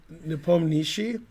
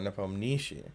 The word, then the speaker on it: Nepomniachtchi: And he said, Nepomniachtchi. And then when he said Nepomniachtchi, Danny King said, oh, so the emphasis is on the poem. Oh, Nepomniachtchi.